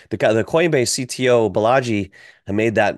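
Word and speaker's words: Balaji: Bellagio? Yeah, he rhymes with Bellagio in Vegas. That's how I remember. Remember the guy, the Coinbase CTO Bellagio, had made that $1 million Bitcoin bet.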